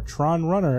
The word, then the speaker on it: Tron RUN/r: Today we are playing Tron Run slash R, or Tron Runner as it's pronounced, which is a game I bought specifically because Kevin likes Tron.